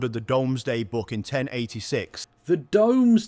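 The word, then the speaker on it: Domesday: Ironically, um, uh, it's it's pronounced the Doomsday Book. That's just how it's pronounced.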